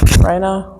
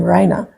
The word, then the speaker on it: Reina: it to the name Reina, unknowing at that time that the way it's spelt and the way it's pronounced is actually the Spanish word for queen.